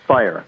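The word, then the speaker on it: Riesling Feier: How do you pronounce it? Fair? Yeah, fire. Fire. So Fire.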